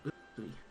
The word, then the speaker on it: Unsui: The Japanese translations doesn't work because his name actually is pronounced completely differently in Japanese. Unsui.